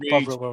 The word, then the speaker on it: Bovril: Bovril.